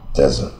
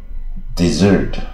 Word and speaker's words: desert: 是当名词比较多啊，desert。可是呢，你看另外一个发音，desert。